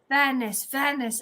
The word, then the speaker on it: Vanis: You're right when you say Vanis. Vanis.